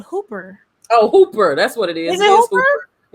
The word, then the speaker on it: Hooper: like, and the funny is his name is Hopper, but it's spelled Hooper. Oh, Hooper.